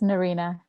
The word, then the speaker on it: Nerena: I was just saying that if we are pronouncing name right, Nerena, Nerena, Yes, it's Nerena.